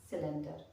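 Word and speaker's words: cylinder: चूल्हा यूज करते हैं, सिलेंडर। इसमें क्या है? सी के बाद वाई का यूज हुआ है तो ये सिलेंडर हो गया।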